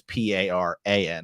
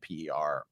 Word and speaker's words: Paran: And also reading Wheel of Time, where a main character, point of view character's name is Perrin, and in Malazan it's Paran as opposed to Perin or whatever.